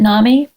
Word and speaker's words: NAMI: were working at NAMI, is that how you pronounce it? I pronounce it NAMI. NAMI. Okay. It goes by both. Okay. People will recognize it either way, probably.